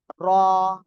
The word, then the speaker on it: ر: অক্ষরটা এই যে অক্ষরটা কি অক্ষর র র র মোটা আওয়াজে হবে র সবাই এখন একসাথে